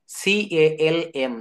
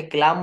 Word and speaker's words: calm: L+M, L+M পরপর থাকলে এবং পরে ভাওয়েল না থাকলে এল অনুচ্চারিত থাকে। এল কি হয়? অনুচ্চারিত থাকে। L+M পরপর থাকলে এবং পরে যদি কোনো ভাওয়েল না থাকলে এল এর উচ্চারণ হবে না। যেমন CALM, দেখেন এল এর পরে ভাওয়েল নেই, কনসোনেন্ট আছে, এটাকে ক্লাম বলা যাবে না। আমরা অনেকে ক্লাম বলি, 6-7 এর ছেলে মেয়েরা,